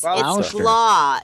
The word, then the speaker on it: Gloucester: Yeah, it's Gloucester. It's Gloucester, like Gloucester. claw, Gloucester. like a lobster Gloucester.